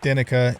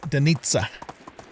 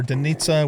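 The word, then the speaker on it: Denica: Also heard that the pronunciation for, you know, a lot of the cities like Dinica is actually supposed to be Denitsa. So we got Dinica or Denitsa.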